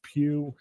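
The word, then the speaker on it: Pugh: Twitter accounts like Pew last name is pug it's pronounced like the Pew polling or whatever yeah um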